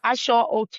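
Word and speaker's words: Aṣọ Òkè: And how you pronounce it? Ashoke? Asho Oke, yeah. Asho Asho.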